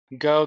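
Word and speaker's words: Geaux: You don't, but Go Ducks or Geox, or however you spell it. But I know how to say the word, but It's Go. G-A-U-X Ducks.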